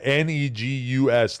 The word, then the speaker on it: Negus: Okay, and then about the pronunciation. Right, yeah. Negus.